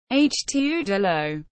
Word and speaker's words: Het Oude Loo: Dutch pronunciation. Het Oude Loo.